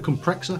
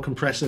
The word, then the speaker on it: Comprexxor: the it's another t-rex it's the t-rex compressor i think i think that's what they call it the compressor it's compressor spelled with x's instead of s's so what do you